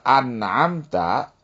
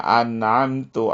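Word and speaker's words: أَنْعَمْتَ: Contohnya kata an'amta, ya, an'amta alaihim. Kita membacanya an'amtu alaihim misalnya ya.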